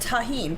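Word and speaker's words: Tajín: says isn't it pronounced tajin probably i don't know i don't eat it yeah the j does make an h sound in spanish so yes what would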